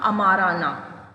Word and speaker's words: Amarna: ठीक है, लेकिन अब इसने न्यू कैपिटल बना दी आखेनातेन ने, और उसका नाम था अमाराना. ठीक है, या यू कैन प्रोनाउंस इज अमारना.